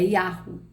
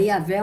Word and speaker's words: Yahweh: ao certo como pronunciar este nome, mas a pronúncia mais aceita hoje é Yahvé, não, é Yahweh. Não é Yahvé ou nem Javé, é Yahweh. Antigamente, uma maneira comum de pronunciar este nome, embora errônea, era Jeová.